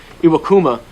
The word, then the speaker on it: Iwakuma: you got iwakuma that's how you say it iwakuma I mean and then if they get Taiwan